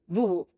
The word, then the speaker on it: Voovo: How do you pronounce it? Voovo. Voovo.